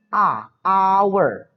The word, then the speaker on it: hour: Walaupun huruf awalnya adalah huruf H, tetapi cara pelafalannya an hour, hour.